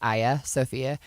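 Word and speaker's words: Hagia Sophia: It looks It starts with an H, but it's pronounced Aya Sophia.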